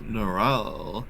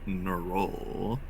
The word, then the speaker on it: Nural: It's Nural, not Nar.